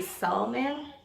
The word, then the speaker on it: salmon: you say you say so men come on Lisa's so main assignment some people don't pronounce the L Simon Simon Simon Solomon